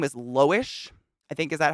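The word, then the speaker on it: Loish: and her name is Lois I think is that how that's how you say it l-o-i-s-h or it's l-o-u-i-s-h it's actually like Louise H but lowish whatever and she just had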